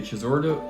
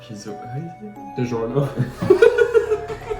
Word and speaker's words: DiGiorno: If the Chizordo, how do you say it? DiGiorno.